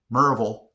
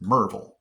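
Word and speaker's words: Maryville: I think I'm still almost pronouncing Merville with 3 syllables. I think I call it Merville or something like that. But when you're a local here, it's just Merville.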